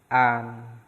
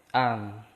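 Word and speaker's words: 안: Di sini ada vokal A, terus diakhiri dengan konsonan nian. Nah, maka dibacanya an. Tuh ya. Itu dibacanya an.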